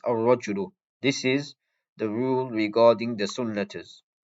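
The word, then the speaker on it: الرَّجُلُ: rajulun, this noun rajulun, it will be with a tashdid on the sun letter. Ar-rajulu, this is how it's pronounced. Ar-rajulu.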